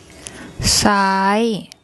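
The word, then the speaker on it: ซ้าย: So we've got an S initial consonant, and then we've got the Sara R, long R, and the Yor Yak, which makes a long I sound, which we've done already. So an S initial consonant, then the long I.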